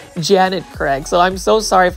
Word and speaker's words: Janet Craig: um Janet Craig compacta I kept on saying Jenny Craig like Jenny Craig lose weight but it's actually Janet Craig so I'm so sorry